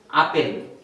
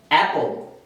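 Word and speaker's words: apple: এটা আমরা পড়ি আপেল, কিন্তু এর উচ্চারণটা হবে অ্যাপল। সবাই আমার সাথে পড়েন অ্যাপল, অ্যাপল, অ্যাপল মানে আপেল।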